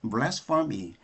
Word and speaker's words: blasphemy: 그런데 이것의 명사형은 맨 마지막 e를 y로 바꾸면 되는데 이것의 발음은 blasphemy 이렇게 발음해요.